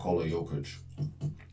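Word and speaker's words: Jokić: I was really h say his name Yokic.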